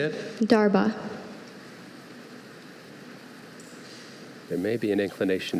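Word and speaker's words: darbha: Darba.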